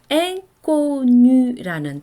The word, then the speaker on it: inconnu: 그래서 인connu 이렇게 발음을 하셔야 됩니다.